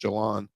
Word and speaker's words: Jalen: I think actually his name is pronounced Jalan, but we look at Walker.